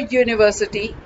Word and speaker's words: university: Here you may get a doubt that university, it starts with U, so it is a vowel. So why it should be A? It should be actually N. No, it's wrong. Why? We are seeing the vowel sound here, not the vowels. So according to the sound, it has to be a university.